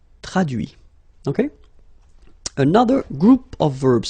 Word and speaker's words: traduit: Traduire, traduit. Okay, so the same rule, because, well, basically it's the same group, and then same rule, final T not pronounced, so introduit, produit, réduit, séduit, traduit.